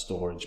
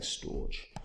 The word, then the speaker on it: Storj: storage so storage uh I know it's meant to be pronounced storage but I like saying storge um stor is in